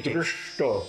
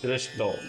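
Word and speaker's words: दृष्टो: As if you have a stone in your mouth. Oh, okay. Dṛṣṭo. Dṛṣṭo. Yeah? Like Krishna. Uh-huh. Right? It's the same kind of pronunciation. That's how you distinguish the letters with the dot underneath, okay. From the plain ones.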